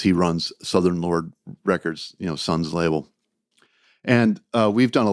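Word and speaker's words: Sunn O))): Actually, it's pronounced Sun, but it's spelled Sun O, like the amplifier company.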